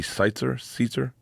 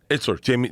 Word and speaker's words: Itzler: I must mispronounce his name. Jesse Seitzer. He lived with Cam Hanes. He's Itzler.